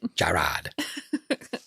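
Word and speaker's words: Jarrad: Jared. J A R R A D. How do you say that name? Jared, that's a stupid way to write it. Jared.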